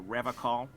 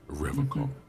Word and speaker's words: Revachol: to stay strong for Revachol. Revachol? He pronounces Revachol with a hard K, unlike other people. I like to pronounce it the hard way, the old way, the Vespertine way.